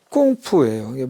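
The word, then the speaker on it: 功夫: 노림 공부를 이걸로 주로 인식해 왔겠지만 한자 저 공부를 중국 발음으로 쿵푸라고 해요. 쿵푸 하면 몸으로 하는 걸로 알잖아요. 뭐 책 보는 걸 쿵푸라고 안 생각하죠. 근데 원래 공부 뜻은 콩푸예요.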